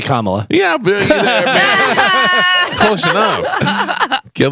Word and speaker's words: Kamala: on The View oh Kamaya is that what you said on The View okaya Cala you I can't believe that after all this time you don't know how to pronounce it it's actually Kamala yeah close enough can